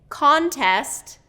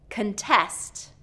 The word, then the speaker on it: contest: Okay, contest, contest. Contest, contest. Do you hear that difference in the word stress?